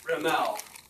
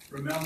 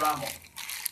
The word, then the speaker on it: Rimmel: Rimmel. Rimmel, not Rommel. I say Rimmel.